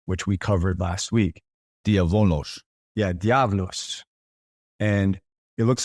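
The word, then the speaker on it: διάβολος: Diabolos. Yeah, diabolos. And it looks like diabolos, but that beta beta is is pronounced like a V.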